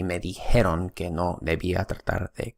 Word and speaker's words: dijeron: So just know that the correct pronunciation is dijeron.